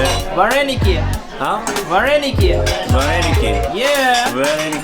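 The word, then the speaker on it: вареники: You know how it's pronounced in Ukraine? How do you say it? Vareniki.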